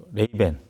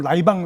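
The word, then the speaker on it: Ray-Ban: 아실 텐데요 그 뭐 레이벤 어 예 사실 이제 그것 브랜드죠 예 그래서 우리 옛날 그 일본식 발음으로 라이방 라이방 하다는 그거죠 네네네 이제 어떻게 보면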